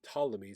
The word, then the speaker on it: Ptolemy: you hear the word Ptolemy starts with a p p t o l e m y Ptolemy the p is silent of course that's Greek people are running Egypt